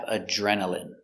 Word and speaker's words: adrenaline: good next we have adrenaline adrenaline remember I here is pronounced in adrenaline adrenaline you get a rush